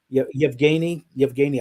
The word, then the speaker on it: Yevgeny: First of all, let me tell you, his name is pronounced Yevgeny. I don't. It does not roll trippingly off an American tongue, but right. Yevgeny, I believe.